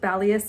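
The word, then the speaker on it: Balios: I swear to God if it's pronounced balos I'm going to freaking jump off the same Cliff test ited I finally looked it up apparently it's pronounced balas and zanthus even though it's like with an O time to follow rule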